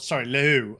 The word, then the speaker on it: Lehoux: Romain Pichon and Alex Lehoux are taking... Lehoux. I don't think you quite pronounce the H that extensively.